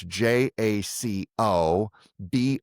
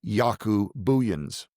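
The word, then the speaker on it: Jaco Booyens: You can just His name is not spelled the way you would hear it pronounced. It's J A C O B O O O Y Ns.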